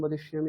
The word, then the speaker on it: বদিষ্যামি: আপনার বদিষ্যামি এরকম কিছু একটা হচ্ছে, ইয়কারটা ঠিকঠাক আসছে না। আরেকবার বলুন, সত্যম বদিষ্যামি, এটা বলুন।